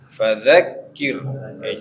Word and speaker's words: فذكر: Ya, nah ini juga za juga diantara huruf yang sebagian kita bacanya za dengan cara tidak disadari. Ya, sama dengan dha. Jadi dha, za itu bedanya za ujungnya saja yang nempel ke gigi atas. Kalau dha agak melebar dia.